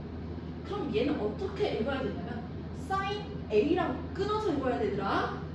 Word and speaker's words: 사인: 자, 얘는 사인이라고 읽어 얘들아. 신이 아니야? 사인.